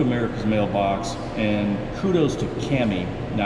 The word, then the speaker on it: Cami: So we got that done, but going to America's Mailbox, and kudos to Cami, it's Cami, not Tammy, as I mispronounced it, C-A-M-I.